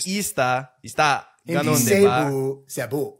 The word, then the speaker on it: Cebu: ista ganon Di ba Cebu Cebu yun yung kayo kasi mga foreigner eh Cebu Cebu pa kayo E CEU lang eh Oo e kasi matagal